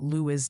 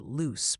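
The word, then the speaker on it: Lewes: And a quick mea culpa, I have been informed by the locals that Lewis, Delaware, is actually pronounced loose, proving even a genius bot can be humbled by East Coast town names.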